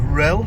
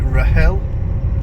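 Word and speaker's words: Rhyl: uh summers in uh Rel or as they call it Rahel uh I'm gonna get my Welsh pronunciation right because of course our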